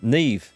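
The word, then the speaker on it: Niamh: of ozil and neem neve i think that's pronounced neve so ozin isn't going to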